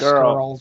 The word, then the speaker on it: Scurll: way, is that how you pronounce his name, Marty Squirrel? Yeah, Squirrel. It's Skrull.